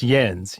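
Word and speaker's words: yinz: you mispronounced it it's it's not y'all it's yens you mis you mispronounced yens but we we've recorded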